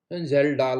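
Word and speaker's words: Kjeldahl: कि कौन सा है, जेल्डाल मेथड। साहब नाम इसमें केस साइलेंट है, जेल्डाल मेथड।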